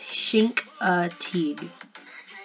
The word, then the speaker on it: Chincoteague: how to say it it's shink oh he so like Sheen but like shank like shank but like shank I don't know how to explain it anyway it's shank Teague Margaret Henry yep Misty